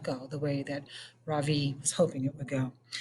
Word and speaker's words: Ravi: he introduced himself earlier i am pretty sure that he said his name was ravi with the accent on the second syllable as i reached down